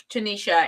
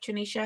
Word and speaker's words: Trinisha: You know what, Tanisha? And am I saying your name right, Tanisha?